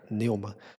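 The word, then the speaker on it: pneuma: A palavra pneu ela vem de neuma, é pne e o m a, como se fosse assim, o o p é mudo, então fica neuma.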